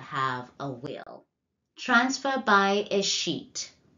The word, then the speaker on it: escheat: Transfer by escheat. Some of you might pronounce that as escheat. You've been cheated out of it, kind of, in terms of reminding you how to remember the definition.